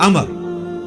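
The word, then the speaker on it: عمرو: उमरू लेकिन उसका मतलब वाओ जो है व साइलेंट होता है और वाव का मतलब यह है कि आपने इसे पेश की बजाय जबर से पढ़ना है उमर की बजाय पढ़ना है अमर तो हजरत अमर बिन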